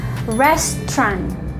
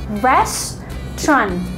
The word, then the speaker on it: restaurant: Nah, itu namanya adalah restaurant. Oke, tempat makan. Itu namanya adalah restaurant. Ingat cara bacanya yaitu restaurant. Cuman dua suku kata. Restaurant, bukan restauran. Restauran, no. Jadi cara bacanya adalah restaurant.